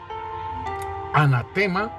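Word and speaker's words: ἀνάθεμα: en el nuevo pacto en griego la palabra nos dice que se pronuncia anatema si asimismo como como como se pronuncia asimismo se escribe anatema y esta palabra en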